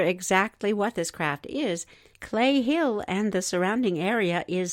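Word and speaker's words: Cley Hill: There's a bizarre clip filmed above a place called Clay Hill near Frome, Somerset. They spell that C-L-E-Y. In this Clay Hill footage, you can see a strange object as it ultimately hurtles to the ground.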